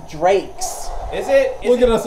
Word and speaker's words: Drax: It's pronounced Drakes.